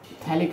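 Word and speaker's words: phthalic: ये हो गया डाइकार्बोक्सिलिक एसिड, जिसे हम थैलिक एसिड भी कह सकते हैं। T साइलेंट होती है, थैलिक एसिड के नाम से भी जानते हैं।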